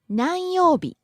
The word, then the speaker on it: 何曜日: 何曜日 What day? What day of the week? 何曜日何曜日 Rising on the second syllable, coming down on the second to last syllable, u.